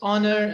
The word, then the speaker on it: honor: sure you noticed that we have a few a few words in english where the h is silent right i don't know